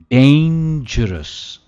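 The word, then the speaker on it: dangerous: कोई चीज जो बहुत ही खतरनाक है, डेंजरस, डेंजरस, और डेन पे इसका स्ट्रेस है, डेंजरस।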